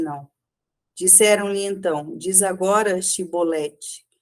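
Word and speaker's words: שיבולת: Disseram-lhe então: Diz agora Shibolete. E ele disse: Sibolete, pois eles não conseguia formular uma pronúncia correta.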